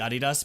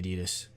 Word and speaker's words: Adidas: unless you're like really unless you're like really German like only Germans pronounce it I need us like theoretically it is supposed to be aa DDoS let's say that's my